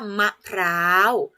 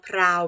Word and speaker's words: มะพร้าว: ว่า มะพร้าว นะ คะ ออก เสียง ว่า มะพร้าว มอ อะ มะ ขอ รอ อา วอ พราว ไม่ ถูก พร้าว ค่ะ มะพร้าว นะ คะ ทำ ต่อ ไป ค่า